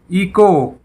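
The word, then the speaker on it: echo: घंटा, इको, H silent, इको।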